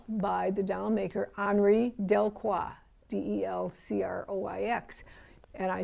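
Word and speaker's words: Delcroix: um a doll by the dowel maker henry del cua d-e-l-c-r-o-i-x and i spell it for you because you may not have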